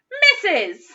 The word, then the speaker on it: Mrs.: to put really quietly yes let's shout it missus okay let's have a look at that next